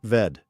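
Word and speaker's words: עבד: The word that gets translated as slave in English, in the original Hebrew, it is a word pronounced ved.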